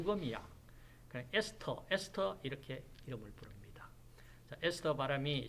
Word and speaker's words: ester: 나옵니다 자 ester 도기로 바로 뭐 그대로 하면 에스테르 입니다 그런데 영어식으로 발음을 한다면 sk 르가 아니고 s 토르도 아니고 아니 뭐 금이야 st 에스터 이렇게 괴물 풀입니다 에스더 바람이 시 oo 뭐